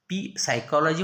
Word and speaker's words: psychology: Spelling बा, सायकॉलॉजी म्हणायचं, spelling PSYCHOLOGY. In the story we are